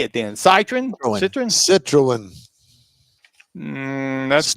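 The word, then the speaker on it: Citroën: Citroen?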